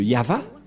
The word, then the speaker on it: Yahvah: le nom de de yava et la prononciation de y h vav he selon les ébreues c'est yava et personne ne peut